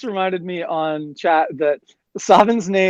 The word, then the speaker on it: Sabin: It is Edgar and Sabin, also known as Figaro Castle from Final Fantasy VI.